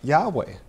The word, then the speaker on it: Yahweh: Church testify that that the name was pronounced Yahweh yes and this is